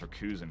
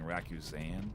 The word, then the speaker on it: Rakuzan: and I'm seeing now I've been pronouncing Ruan rakuzan incon in incorrectly I went with racusen but they're saying rakuzan I don't know they're